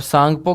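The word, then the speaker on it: Tsangpo: और सांगपो की spelling T से शुरू होगी। टी साइलेंट होगा।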